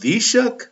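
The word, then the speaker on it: Taoiseach: It's pronounced the shook. I would have never guessed that.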